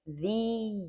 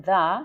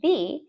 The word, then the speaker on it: the: um when you have the before a word that starts with a vowel sound. So vowels ae, ee, i, o, u, right? Our vowel sound in airport is a, right? So you add instead of saying the, you say the and you also add a little extra y sound.